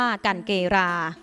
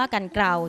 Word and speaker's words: กันเกรา: ไม่ รู้ จัก และ หลาย คน ยัง อ่าน ออก เสียง ผิด ๆ กัน ว่า กัน เกรา และ แม้ ว่า กัน เกล่า จะ ถูก ใช้ เป็น